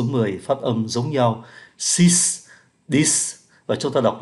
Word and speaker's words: six: cái âm Q, cinq, six phải cho thấy được cái âm S, neuf phải cho thấy được cái âm F, và số 10, dix, phải cho thấy được cái âm sở.